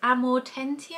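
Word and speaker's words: Amortentia: for example we've got liquid luck which is amor tentier I believe I'll have to like I can't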